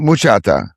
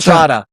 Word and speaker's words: bachata: the bachata, which is a really sexy dance. Like you don't So- want to dance that with The someone else's woman. muchata. It's called muchata? bachata.